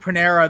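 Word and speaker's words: Panarin: He slammed some dude from the Rangers who sounds like Panera. That's how Mike Burline pronounced it last night on a craft brew.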